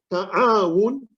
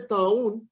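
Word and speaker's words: تعاون: The correct pronunciation is ta'awun, ta'awun, because when you say ta'awun, it is plague.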